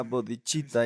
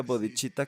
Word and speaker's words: bodhicitta: No se pronuncia bodhicitta con C, es cha, es CH, duh.